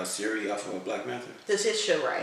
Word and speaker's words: Letitia Wright: How you say Lucretia Wright? How you say her name? The one that played Siri off of Black Panther? Letitia Wright. Letitia Wright.